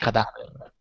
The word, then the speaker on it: cadaver: Se dico ictus est in seconda sillaba. Ida. Etiam in lingua anglica, ergo servat ictum latinum. In lingua latina est Ida. cadaver.